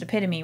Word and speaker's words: epitome: And there's no way that in that moment I'm gonna say, as they're still having a conversation, you know, it's pronounced epitome, right?